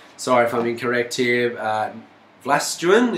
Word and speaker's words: Vlastuin: Vlastuin, is that how they say it down there? I think it's Vlosten.